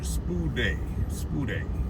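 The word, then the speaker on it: σπουδή: Okay, all diligence, it reads, let's get the pronunciation, spude.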